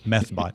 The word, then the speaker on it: Methbot: Security firm White Ops reported Tuesday that a botnet called methbot, I didn't mispronounce that, it's METH, methbot, has been used to gain $3 to $5 million in ad revenue per day in estimate since October.